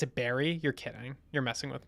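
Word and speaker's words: Barre: forces me to finish things big fan they pronounce it Barry you're kidding you're messing with me oh in in the town in Massachusetts they pronounce it Barry yeah yeah that makes sense that checks out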